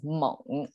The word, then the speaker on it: 蒙: And contemporarily, it's pronounced as Meng. It's a third sound.